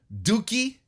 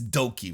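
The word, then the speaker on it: DOUKI: Master Wato, Robbie Eagles, Titan over from CMLL, Bushi, El Desperado, Dookie. It's Doki, right? I cannot not Doki, say, yeah. But I cannot not say Dookie. That's how it's spelled.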